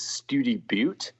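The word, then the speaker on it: Study Butte: I think it was study Bo which is spelled like study and then Buu tte okay there's a wide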